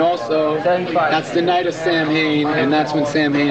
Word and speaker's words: Samhain: stretch and yes it's Sam Hayne it's pronounced phonetically even if Danzig was incorrect when he made the band that's what he called it so in sowen I don't know you're